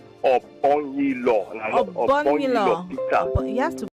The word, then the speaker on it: Obong-Daniels: My name is called Obong-Daniels. Obong-Daniels. Peter. You have to pronounce it for me.